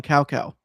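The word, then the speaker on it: Cao Cao: character whose name is spelled CAO. See, it's like okay. Well, in the original voice acting for the first few games on the PS2, they called him Cow Cow.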